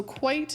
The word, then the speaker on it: quite: So quite is a one-syllable word, and it means completely or wholly or really, whereas quiet is a two-syllable word that means to be still or make no sound.